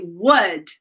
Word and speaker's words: would: Guys, we write would. We don't say would. We say would.